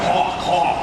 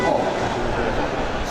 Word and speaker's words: Hulk: He goes, no man, Hawk. And he's pointing at the Hulk. And I'm like, you're mispronouncing that shit, dude, Hulk.